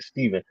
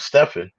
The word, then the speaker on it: Stephen: again to uh Stefan who came on and I apologize I was pronouncing your name when I was saying Stephen it's stefen who was um coming